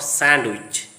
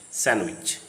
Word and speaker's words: sandwich: Not sandwich, sandwich.